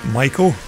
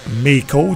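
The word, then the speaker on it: Maico: Number four there is Jim Colligan on the 490 Michael, or Mako, depending on how you pronounce it.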